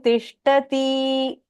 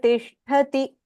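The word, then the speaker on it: तिष्ठति: Only the last pronunciation, when at the end of the line, when there is a hrasva, make sure you don't elongate it. So, for example, Okay. Ishvara sarva bhutanam hriddeshirjuna tishtati. Instead of saying tishtati, the end syllables, try not to elongate that.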